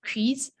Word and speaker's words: quiz: It's not keys, it's quiz.